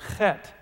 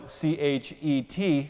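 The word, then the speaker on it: חטא: The Hebrew word for sin is the word chet. You can spell it C-H-E-T, chet, and that is the idea of missing the mark.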